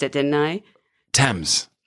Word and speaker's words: Thames: already forgotten you taught me how to say toms no i just mispronounced it didn't i thames it's been like 12 hours forgotten yes it's